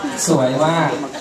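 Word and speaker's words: สวยมาก: Suway ma. Suway ma. Yeah, suway ma. That's how you pronounce it, right?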